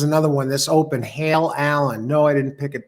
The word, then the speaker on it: Allen: one this open hail Allen no I didn't pick it because it's it's spelled differently than my name um Alan this is a-l-l-e-n so I can't claim that either pronounced the same but this one from